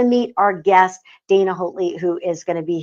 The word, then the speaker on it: Hotle: So I apologize for coming up with my own rendition of her last name. Hotle is how you say it.